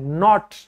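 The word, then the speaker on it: knot: नॉट नॉट तो इसमें के साइलेंट होता है।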